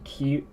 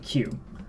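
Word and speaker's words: 九: understand what you're saying when you say ku, you can just repeat and correct yourself by saying Q. And they'll be like, oh, Q.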